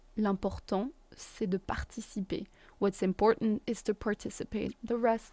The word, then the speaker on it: important: Then we have important, which means important. It's the same word in English and in French, it's just pronounced differently.